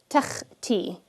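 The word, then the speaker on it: تختي: Notice I'm pronouncing the kha with no additional like vowel attached to it. It's just kha. Takhti.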